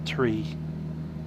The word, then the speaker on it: three: t sound the same if i was designing iko i would have made the number three have two syllables far re as against number two's single syllable to tarry but we don't live in that world we live in this world and in this world it's the tree we have passed into